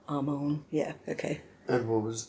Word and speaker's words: Amon: Amon. Amon, because I always pronounce the R, and it probably should be at least softened a lot more. Amon.